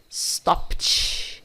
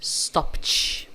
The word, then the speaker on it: stopped: E aqui é como se você falasse stopped, stopped, beleza? Bom, vamos pronunciar então esses aqui.